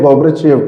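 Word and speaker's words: Горбачёв: Russian president रह चुके हैं गोब्राचेव, ठीक है, इसे गोब्राचेव प्रोनाउंस नहीं करोगे आप, ठीक है, गलत प्रोनाउंसिएशन है। रशियन नाम है, पढ़ने में थोड़ा सा दिक्कत सभी को होता है, गोब्राचोव, ठीक है, आप इसे सिर्फ प्रोनाउंस करेंगे गोब्राचोव, ठीक है, रशियन नाम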